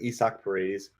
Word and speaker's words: Isaac Paredes: I think it's like Isak Paredes. It looks like Isaac Paredes or Paredes, but it's like Isak Paredes, I believe. Paredes is how they're saying it.